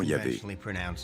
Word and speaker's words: Yahvé: Dans l'un des récits, Abraham appelle Dieu par son nom propre, qu'on prononce traditionnellement Yahvé. Les passages faisant référence à Yahvé, qui s'écrit avec un J en allemand, correspondent à la source J.